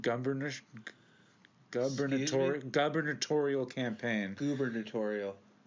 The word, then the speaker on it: gubernatorial: burnish dubber tutorial campaign gubernatorial gubernatorial campaign in nine in 1990 in May 1994 so how you said like the governor campaign yes that's the term that is a weird-ass term gubernatorial term of the day